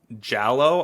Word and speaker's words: giallo: But when you look at the history of slasher films, before Black Christmas, you have how do you pronounce it? Giallo, I think is how you pronounce it.